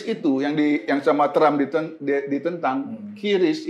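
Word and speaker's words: QRIS: Kris itu yang sama Trump ditentang, Kiris itu, bacanya Kris itu, yang diciptakan oleh Bank Indonesia.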